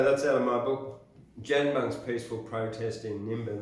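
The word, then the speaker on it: Dganbung: That's out of my book, Janbung's Peaceful Protest in Nimbin. That's spelled D-G-A-N-B-U-N-G. Yes, apostrophe S. Janbung.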